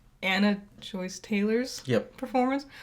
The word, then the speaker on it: Joy: It's Joy. Damn it. Not Joyce.